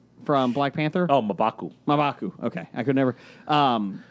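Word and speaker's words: M'Baku: My number one, I'm going to butcher the name, Mabuku from Black Panther. Oh, Mabaku.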